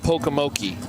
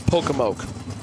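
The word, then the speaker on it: Pocomoke: It's not Pokemoki. It's Pokemoke. The E is silent on the end, even though it's there.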